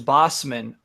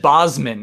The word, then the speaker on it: Bossman: Ian, I did not start pronouncing the hard S in Bossman until the first PlayStation Do's and Don'ts video I made. What? Up until then, I just said Bosman as a Z, as if it was a Z.